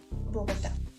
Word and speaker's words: Bogotá: una palabra trisílaba y debemos recordar que agudas es que tienen su última acentuación en la última sílaba de la palabra por ejemplo Bogotá esa sería la primera